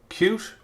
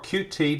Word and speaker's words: Qt: with a display module cute or QT depending on how you pronounce it for embedded Linux provides